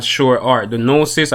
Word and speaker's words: Gnosis: not sure are the gnosis i think that's how you probably pronounce that g probably silence so it says the